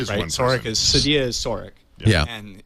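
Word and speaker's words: Cydia: yeah and Sadia and by the way it's pronounced Sadia I found out which I didn't never knew I thought it was cyia cidia is now uh on the iPhone 4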